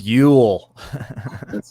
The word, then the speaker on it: Yule: of you that don't know let's see here it's spelled you'll Ju ul there's yl l know like you will ty I really like the Velvet Underground Doug Yule Doug you all Holly's fella why you Ellie